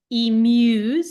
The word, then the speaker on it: emu: includes ostriches and emus emu that in Australia they would correct you it's emu um these birds have